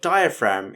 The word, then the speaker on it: diaphragm: by the fram part now this is tricky in two places one is the ph making the f sound which you may be used to in words like phone or elephant now the real tricky part is in the fram part which is the gm at the end that sneaky g is not pronounced at all so you need to